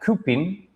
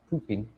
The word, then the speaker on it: coupon: It's pronounced like koopin. Coupin.